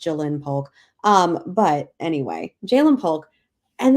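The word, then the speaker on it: Ja'Lynn Polk: Those apostrophes really get me because it should be pronounced Jaylen Polk.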